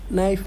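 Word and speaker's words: knight: नहीं है ठीक है नाइट में के साइलेंट है बाकी मैं ऐसा कुछ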